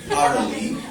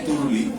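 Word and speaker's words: thirdly: তাইলে তুমি বলবা কি আফটার রিডিং দা বুক থার্ডলি দেখো after reading the book থার্ডলি I through the book through the window দেখো প্রোনাউন্সিয়েশনটা খেয়াল করো আফটার রিডিং দা বুক থার্ডলি এটা আমরা সাধারণত দেখবা আমরা বলি তুরলি হ্যাঁ বইটা তরুণী পড়ে ফেলো বলো না দেখবা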